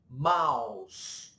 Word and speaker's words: mouse: Então, por exemplo, vamos ver o exemplo aqui dessa palavra, a palavra mouse, que é o rato. Mouse. Então, quando você vê OU em inglês, normalmente você vai pronunciar AU, jamais OU, ok?